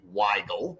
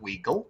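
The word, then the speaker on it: Weigle: Not to embarrass you, but my name is Waggle, not Weagle, but it's okay.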